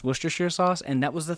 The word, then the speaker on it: Worcestershire: of I never know how to say it because if you read it it looks like we're Chester sure Shire sauce and and so I